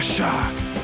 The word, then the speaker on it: Shaaark: a shark named jaah pronounced shark determined to inspire his